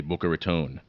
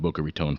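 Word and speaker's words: Boca Raton: you're a hardcore fellow you pronounce it correctly bokar Ron I've often uh I've often I just I refuse to call it Boer Ron for a number of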